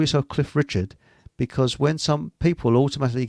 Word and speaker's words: Richard: So you're Cliff Richards. No, I'm Cliff Richard.